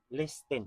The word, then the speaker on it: listen: Listen. Nagbisaya naman noon. Naano siya sa English yan, naano siya silent letter, silent T ni siya. Ayaw apilag basa ang T.